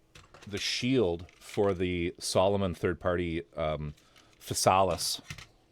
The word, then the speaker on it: Physalis: We're working on the shield for the Solomon third-party Physalis. I'm saying it correctly now. Because I was told to stop calling it the Gundam Syphilis.